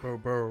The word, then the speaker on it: Bourbeau: Fine, Monsieur de Bourbeau. The emphasis falls on the last syllable. Bobo? Mm-hmm. Bobo.